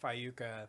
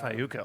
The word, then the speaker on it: Fayuca: Fayuca. FAYUCA. See, I'm glad you were in the band and didn't know. Dude. It's the YU. You're like, wait a second, did I say that right?